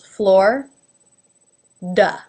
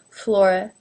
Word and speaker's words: Florida: as you can see when I pronounce it Florida the eye is not even pronounced at all it's two syllables floor duh however some people do bring the eye into the mix a little bit and that is perfectly acceptable flora flora but it's really